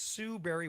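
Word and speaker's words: Sue Barry: Most people think berry is spelled like a fruit or Halle Berry, but no, it's Sue Berry with an A, like soul singer Barry White's first name.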